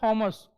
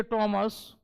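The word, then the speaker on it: Thomas: an hour एक घंटा इसी तरह ये हम लोग जैसे बेवकूफ की तरह बोलते हैं थॉमस but exactly it's pronunciation is like थॉमस ठीक है इसीलिए टॉमस मुनरो थॉमस मुनरो याद रखना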